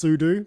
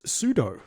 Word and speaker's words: sudo: For me, it's sudo because it's super user do, and for you, it's sudo. Sudo, yeah. Like judo.